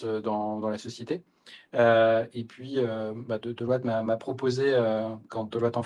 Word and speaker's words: Deloitte: Il y a longtemps, il y a presque 200 ans, William Deloitte, donc d'origine française, c'est pour ça que je le prononce à la française.